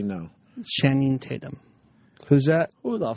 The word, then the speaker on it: Channing: You said Shannon. He said Shannon.